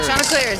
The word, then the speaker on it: Chanticleers: Yeah, Chanticleers.